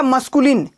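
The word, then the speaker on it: masculine: ये मसूड़ा होता है ना, मसूड़ा होता है ना, तो बोलने के लिए, प्रोनाउंसिएशन के लिए ध्यान दो। मसूड़ा कहते हैं वही, तो मस्कुलिन। क्या बोलोगे?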